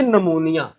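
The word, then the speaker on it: pneumonia: ले जी, उसके बाद हमारे पास है जी नमूनिया, ठीक है। ये पी से शुरू होता है, लेकिन बच्चे बच्चे इसे पी से बोलते हैं, पी से नहीं बोलना आपने, पी साइलेंट है, ठीक है।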